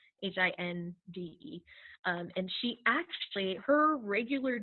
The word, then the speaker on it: Hinde: Katie Hindi. I always say it wrong. I think it's Hind, Hinde.